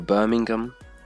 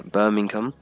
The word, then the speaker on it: Birmingham: Number 2, Birmingham. Many people get this one pretty wrong. Like, it's the American pronunciation.